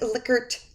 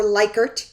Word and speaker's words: Likert: I've put a handout up here that should help you, and it is the Likert or Likert, you can say it Likert response alternatives for 5 questions.